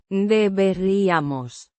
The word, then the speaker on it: Deberíamos: Pronounced. Deberíamos. The stress is on the Ri. the Be. is soft, similar to the be in baby.